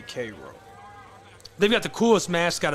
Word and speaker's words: Cairo: The people that I know that are from there say Cairo.